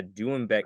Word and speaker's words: doumbek: Yeah, all three of those are pronounced correctly. Excellent.